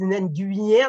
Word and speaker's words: Nguyen: Le fameux N-G-U-Y-E-N, la plupart des gens, ils disent Nguyen, ils ne savent plus comment ça, ils font une grimace et tout. C'est Nguyen.